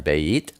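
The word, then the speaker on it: בית: you would write down Beit Aleph, 2 and 1. Beit is pronounced like a B, such as baby. It's sometimes pronounced like a V, as in victory.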